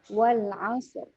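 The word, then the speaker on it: والعصر: Nah, jadi bacanya wal asr. Nah, dia agak dihentak sedikit katanya. Wal asr. Nah, supaya dapat ro-nya. Karena kalau kita nggak hentak nanti ro belakangnya nggak dapat.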